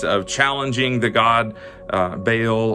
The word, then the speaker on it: Baal: challenging the god uh baal or ba all as it's pronounced in the older language where elijah calls down